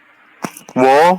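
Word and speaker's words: ㅝ: Ini kan U dengan O, maka dibaca wo, nah, wo ya.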